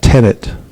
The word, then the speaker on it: tenet: But I didn't say tenant, I said tenet.